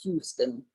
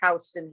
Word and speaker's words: Houston: It's pronounced Houston here, not Houston. Wow, how would I know that? You wouldn't. Someone has to tell you. Well, it's spelled like house, not Hugh.